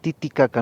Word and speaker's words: Titikarka: Los españoles pronunciaron Titicaca, no han podido pronunciar Titicaca, su nombre original.